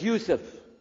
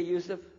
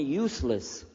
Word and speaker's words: Yusuf: My name is Yusuf. Can you say Yusuf? You say Yusuf. Yeah, very good. I wish you'd teach my wife. She keeps mispronouncing it. She calls me useless.